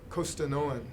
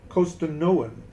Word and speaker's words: Costanoan: pronounce that name well the Spanish term of course is costen cost or costanoan costanoan yes costan and no o n after oh okay but but many